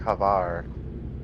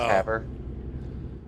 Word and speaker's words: Havre: The Montana, it's not rhyming. It's not rhyming with Favre, like Brett Favre. It's named after the French coastal city of Le Havre. You were right, Havre. Havre. Well, I was like Havar, but it's Haver. Yep.